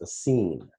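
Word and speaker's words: سين: sell you on sin sometimes you'll see that with a double e sometimes with a double I but it's always pronounced a scene so Al if is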